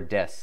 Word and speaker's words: です: Or des, like that's the word everybody knows, is des is the one for is, but you don't say desu, you say des.